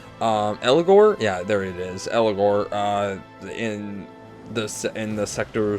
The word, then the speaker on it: Eligor: Next to Eligire, is that how you say his name? I don't know. Eligor? Yeah, there it is. Eligor, in the Sector 7 Ghost Train Yard.